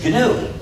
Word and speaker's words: GNU: but it still is canoe so please to make this distinction clear pronounce the name of the system with a hard G pronouncing there's another erroneous